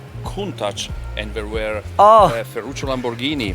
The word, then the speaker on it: Countach: Oh, Countach. Okay. All right. I wish I speak Italian, so I will understand the excitement. Your pronounce of Countach is perfect.